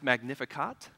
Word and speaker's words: Magnificat: title of the series before that word is pronounced Magnificat and it's Latin for what late what Mary